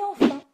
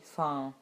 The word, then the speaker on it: enfin: Et dans ce cas-là, comme vous l'avez peut-être déjà entendu, on peut supprimer la première syllabe de enfin et prononcer simplement enfin. Oui, enfin, je crois.